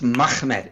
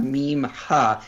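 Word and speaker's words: מחמד: It's a two-syllable word. It's Mahmed. It's not Mim Ha. It's Ha. And it's too harsh. You're adding a syllable in there to make it Muhammad.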